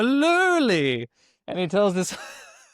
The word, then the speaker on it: lurly: It's actually called a a lulli.